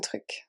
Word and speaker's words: truc: It's a little bit tricky to pronounce because of the R, but un truc.